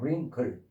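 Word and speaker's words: wrinkle: 없는 것처럼 발음해요. 그냥 링클 어 여기도 끝에도 그냥 없는 것처럼롱 이렇게 없는 것처럼롱 이렇게 발음을 하는 얘기예요.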